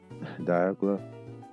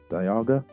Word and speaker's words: Dialga: We have not seen Diagla. Man, bad pronunciation. Dialga and Palkia.